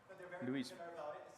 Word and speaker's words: Louisville: at the University of Louisville. Is that right, how you pronounce it? Louisville. Louisville. Louisville, yeah, wow, that's good.